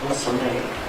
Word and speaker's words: Soave: I was doing a great job at the French pronunciation of your name, Soave, correct?